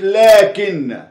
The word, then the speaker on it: لكن: عكس كلمة لكن، لكن فيها الف ينطق ولا يكتب، مكتبوش.